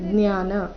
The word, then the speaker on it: ಜ್ಞಾನ: ಅಂತ ಉಚ್ಚಾರಣೆ ಮಾಡ್ತಾ ಇದ್ರೆ ಏತ ಆದ ನಂತರ ಅರ್ಧ ಜ ಮುಂದೆ ಜ್ಞಾನ ಈ ರೀತಿ ಬರಬೇಕು ಏತ ಜ್ಞಾನ ಮಿತಿಪ್ರೋಕ್ತಂ ಮಿತಿ